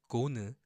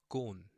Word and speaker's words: 곤: 고 and 니은 받침, the basic final consonant, so it's 곤, not 고는, okay? The clean N sound. Think of it as like that. Clean N sound at the end.